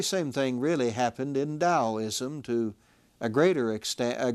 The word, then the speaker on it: Daoism: been through the centuries Daoism was founded by a legendary figure named LA Zoo again the T I understand has um a d sound in the pronunciation so Daoism was founded